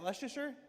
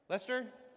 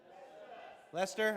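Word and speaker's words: Leicester: How do you say, is that Leicer? Lester. Lester.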